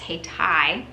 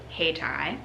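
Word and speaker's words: Hayti: local black community of Haiti pronounced hey Tai thank you hey Tai by 1910 NC Mutual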